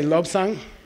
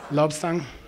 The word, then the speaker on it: Lobsang: Is say Lobsang Trapa. Lobsang Trapa. Lobsang means pure mind. Okay, lo means mind, and sang means pure, and bi is a prefix letter, so lobsang, okay?